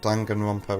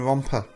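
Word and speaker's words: Danganronpa: I've still not spelled Dangan Rompa right. And I keep saying it wrong as well. I keep saying romper. Dangan rompa. Not romp. Not rompy pompy.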